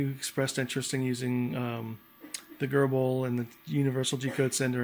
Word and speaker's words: GRBL: cnc um controller boards using gerbil and i think that's how you pronounce it gerbil and uh uh the